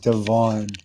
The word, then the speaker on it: Devon: his stock Devin okay it's it's actually pronounced Devon or it's spelled Devon d v o n